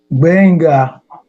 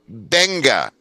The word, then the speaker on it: Gbenga: Gbenga. Gbenga. So the G Yeah. is silent. Silent G.